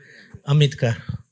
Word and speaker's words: Ambedkar: How do you pronounce? Ambedkar.